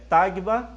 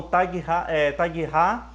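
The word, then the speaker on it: Tabgha: Algumas pessoas já ouviram pronunciar Tagba, outros falam Taghra, mas aqui no caso, pessoal, eu acredito que seja Tagba mesmo, e Cafarnaum.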